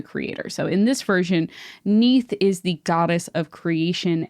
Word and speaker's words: Neith: It's spelled like Keith, but with an N instead of a K, which I really like. I'm just like, Keith. That's great. So Neith is the mother of